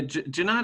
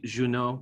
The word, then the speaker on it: Junod: Yeah, Junod is how we say it. If we wanted to be fancy, we could say Junot, but Junot, yes, Junot like Chile.